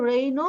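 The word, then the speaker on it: rhino: এটাকে রেইনো বা রাইনো বলা হয়, দুই ভাবে উচ্চারণ করাই রাইট।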